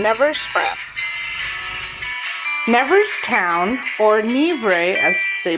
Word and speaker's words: Nevers: Never Town or Nebre as they pronounce it is located in central France. It is southeast of Paris. It is situated on the right bank of the Lur River. Nevers is a beautiful city in France.